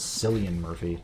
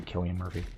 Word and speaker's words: Cillian Murphy: I used to say, like, pronounce his name as Cillian Murphy, but I think it's actually Killian Murphy. Like my girlfriend, she corrected me on that.